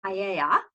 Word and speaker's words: paella: We call it paella. The Spanish pronounce it paella.